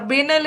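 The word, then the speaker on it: banal: Okay, इसका कई बार देखो एक्सेंट का अलग है, इसको बनाल भी बोलते हैं, ठीक है। कई जगह प्रोनाउंसिएशन बेनल करेंगे, बनाल भी होता है इसका।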